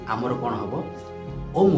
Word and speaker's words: ओम: ताहाला ओ उ म। ओ कहले पिला माने ब्रह्मा, उ कहले विष्णु, म कहले महेश्वर। आउ आमे जेतेबेले ओंकार उच्चारण पिला माने करिबा ताहाकू ओ को जेतिकी समय नबा, उ को ताठारो 5 सेकेंड अधिक समय नबा, आउ म को ताठारो 5 सेकेंड अधिका नबा।